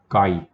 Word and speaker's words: chi: ये इंटरसेक्शन का और एक सिंबल है, इसको बोलते हैं काई. काई, ओके. आई थिंक CHI उसका स्पेलिंग है, ग्रीक लेटर है.